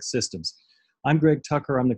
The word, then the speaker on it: CSDMS: system or CSD AMS the acronym for which if you say it with the soft C sounds like systems I'm Greg Tucker I'm